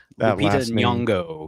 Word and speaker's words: Lupita Nyong'o: uh What about Lupita Nyong'o? I'm not sure if I'm pronouncing that. Lupita Nyong'o, yes.